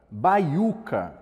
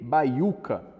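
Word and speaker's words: baiúca: uma semivogal né e a gente tem na próxima sílaba apenas a letra u que é uma letra u too e se antes ela tinha o acento agudo né a representação escrita dessa tonicidade agora ela já não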